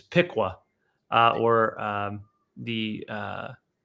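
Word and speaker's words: Piqua: Roger slack and uh he was telling me how to pronounce these cities like uh the the Pea is is Pika or um the uh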